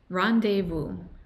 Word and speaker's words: rendezvous: Y se pronuncia así. Rendezvous, rendezvous, rendezvous.